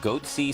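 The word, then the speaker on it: Goatse: and they're getting the goatsy picture they're called goatsy security is that I pronouncing that correctly yeah that's right we're analyzing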